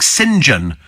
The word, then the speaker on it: St John: Rafe it's quite Posh like singen for St John yes it was Norman